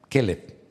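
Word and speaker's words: כלב: Vamos a ponerle al perro Kev, porque así se dice perro en hebreo. Kellev.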